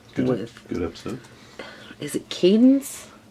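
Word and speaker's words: Cadance: Is it Cadence? I believe it's pronounced Cadence. I always want to say Candace. I don't know. It's Cadence. The Mi Amore Cadenza.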